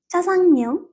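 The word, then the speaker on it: 짜장면: ব্যঞ্জন বর্ণের চয়ের মতো করে উচ্চারিত হবে, আরেকটা উচ্চারণ হলো এটা বাংলা ব্যঞ্জন বর্ণের চয়ের মতো করে উচ্চারিত হবে। For example, চাজাংমিয়ং।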